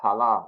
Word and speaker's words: Haran: nah nah and Hala haran would be pronounced halah in Kong okay let's go to